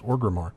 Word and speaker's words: Orgrimmar: Is that how did I pronounce it right? Mm-hmm. I'm always worried about those. Orgrimmar. Yep.